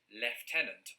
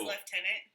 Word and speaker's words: lieutenant: the thing i think i don't remember ever pronouncing this the british way of lieutenant i've always said i think probably not lieutenant you know who says lieutenant who poldark does he yes left but of course i say lieutenant so um differently mary